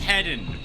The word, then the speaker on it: Hedon: Now we are playing as you might have seen by the way on the hedonistic difficulty and it is pronounced heden by the way from everything I have seen now.